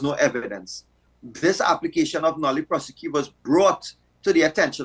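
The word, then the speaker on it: nolle prosequi: called a nolli prosequi, or the pronunciation tends to vary, but it's a nolli prosequi.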